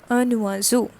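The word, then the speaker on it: un oiseau: have done here is it is starting with the vowel and we connected this vowel with the consonant in front of it and the pronunciation becomes a nua zou a nuwazu and that is bird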